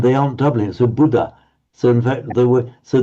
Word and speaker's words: Buddha: But if they've been careful in chanting in Thai, then of course you'd be more careful to double it. The Buddh Buddha.